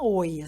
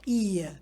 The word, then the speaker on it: Oia: ou em I que se escreve oia mas não se fala oia se fala I muito bem insider information